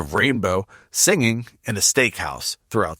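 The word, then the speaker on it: Reignbeaux: Also, that movie doesn't have Bill Hicks in the Rainbow, that's spelled r e i g n b e a u x, the Rainbow, singing in a steakhouse throughout the movie.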